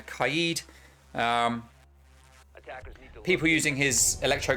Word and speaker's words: Kaid: get six picked for cade now kaid i pronounced it wrong there kaide um people using his